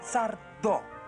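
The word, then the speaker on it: Sardó: Sardo. Sin señor y acento en la O.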